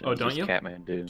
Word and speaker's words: Kathmandu: I thought you didn't pronounce the H. Oh, don't you? Kathmandu. Kathmandu.